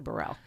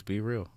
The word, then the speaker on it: Bereal: And it looks like Be Real. Yeah. But it's Burrell. Nah, well, or is family, my artist name is Be Real, but that is how you say it. It's Be Real. Like, so I got split. See, me and some of my cousins, we say Be Real, and then I got